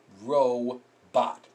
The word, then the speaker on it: robot: I didn't Circle it it's because this o makes the short o sound this is a long o row this is a short Oh bot ro bot so we have a